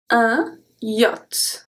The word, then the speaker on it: yacht: We also don't make the link for this word, un yacht. We don't say un yacht, yacht. That would be weird.